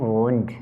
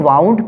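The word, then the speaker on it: wound: I have a bleeding वुंड, कुछ लोग इसको वाउंड पढ़ते हैं, लेकिन इसका अगर रियल प्रोनाउंसिएशन देखा जाए, इसका रियल प्रोनाउंसिएशन क्या होता है? वुंड होता है, इसलिए इसे वुंड ही पढ़ें, वो ज़्यादा बेहतर है।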